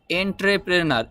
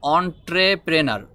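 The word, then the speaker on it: entrepreneur: কারণে আমাদের কাছে মনে হচ্ছে এটার উচ্চারণ হবে এন্ট্রে প্রেনার এরকম উচ্চারণ হয়তো হতে পারে এরকম আমাদের কাছে মনে হচ্ছে কিন্তু এন্ট্রে প্রেনার বললে হবে না এটার উচ্চারণ হবে অন ট্রেপেনার অন অন ট্রেপ trainer অন ট্রেপেনার মিন উদ্যোক্তা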